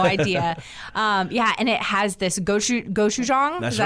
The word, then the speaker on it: gochujang: And it has this gochujang.